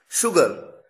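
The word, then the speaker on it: sugar: शुगर, ध्यान दीजिए यहां पर केवल एस आया, एच तो आया ही नहीं, लेकिन उसके बावजूद प्रोनाउंसिएशन में, उच्चारण में शलगम वाला श है।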